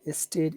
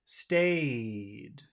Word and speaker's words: stayed: Okay, because of this D, this vowel sound is very, very long.